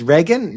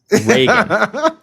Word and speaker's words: Reagan: Doulus and Rean.